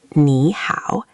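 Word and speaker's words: 你好: It's like a dip and then a slight rise in your voice. So, it goes down and then up. Try to scoop it. Nǐ hǎo. Imagine drawing a little V with your voice.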